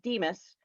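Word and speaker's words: DMHAS: health and addiction services that's abbreviated d-m-h-a-s and pronounced demus is chewed her first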